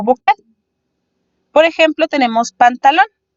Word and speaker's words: pantalón: Por ejemplo, tenemos pantalón. Pantalón se divide en 3 sílabas, siendo lon la sílaba más fuerte.